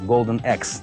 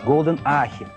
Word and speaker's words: Golden Axe: Потому что, знаете, бывает, говорят, там, есть такая игра, золотой топор, вы знаете, Golden Axe. Как вы только не называют? Golden Ahi, Golden Axe, Golden, в общем, ужас, слушать невозможно.